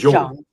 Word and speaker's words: Jung: It's not Jung. It's like halfway between Y and J.